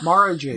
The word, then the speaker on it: Mara Jade: I only used him because I couldn't remember how to pronounce Mara Jade. Is it Mara? Mara Jade. Mara Jade.